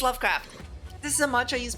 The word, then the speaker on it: Lovecraft: how do you say that how do you pronounce that again or something like that it's Lovecraft this is a mantra used by cthulu's SC